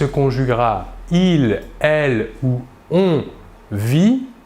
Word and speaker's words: vit: il, elle ou on vit, VIT. Nous remarquons que la prononciation du verbe est la même, vit. Nous ne prononçons ni la S finale ni la T finale.